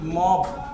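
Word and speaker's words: mob: अगली बात करते हैं ओ का उच्चारण औ की ध्वनि में, जैसे मॉब। है ओ, लेकिन उच्चारण क्या हो रहा है? औ की ध्वनि में, तो मॉब, जन समूह।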